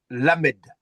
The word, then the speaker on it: Lamed: Alors, ça vient de ça se prononce hmm? Le pour dire la, li, voilà, Lamed.